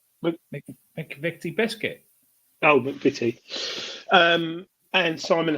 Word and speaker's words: McVitie: McVitie Biscuit.